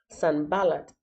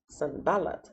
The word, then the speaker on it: Sanballat: Sanballat, Sanballat, Sanballat.